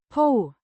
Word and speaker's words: på: tense and plural subject po means on or at pronounced po it's a preposition indicating